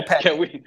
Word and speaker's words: Lopetegui: It's one of those names that I cannot, like, the trying to figure out the proper Spanish pronunciation is a mystery to me. Like, We looked it up. We did look it up on YouTube, and it was yeah, Lopetti.